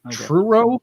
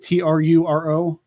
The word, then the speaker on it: Truro: to get into the q a now in true row is that how you pronounce it t-r-u-r-o yeah true it sounds like something scooby-doo would